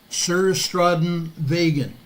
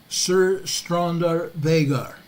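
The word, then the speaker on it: Suðurstrandarvegur: 300 yard north of the Southern strand Highway sir straden vagan is how they pronounce it there sir strander vagar okay it's north about 200 to 300 yards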